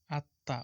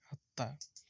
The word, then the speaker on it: আত্মা: আত্মা, উচ্চারণটা হবে এখানে আত্মা।